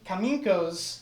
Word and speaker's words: Kaminko: You go to uh Kam uh Kam Kaminko's house.